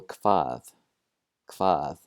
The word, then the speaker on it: hvað: First of all, the combination HV doesn't look normal, that's for sure, but it's not terribly difficult. We're going to pronounce it like a KV.